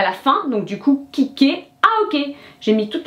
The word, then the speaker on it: kicker: In French, it's going to be the last one. So with kicker, you have to say, oh, it's like kick. Then they add an ER, which makes it a little complicated, but now I accentuate that last syllable.